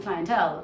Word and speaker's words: clientele: But if I'm still saying clientele, I don't think they would have a problem.